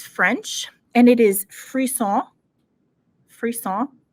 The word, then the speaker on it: frisson: Frisson. I'm pronouncing that correctly because we practiced.